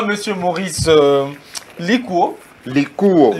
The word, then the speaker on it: Likuo: Likuo. Vous prononcez ça en français. C'est Likuo Maurice. Merci beaucoup. C'est un nom mongo.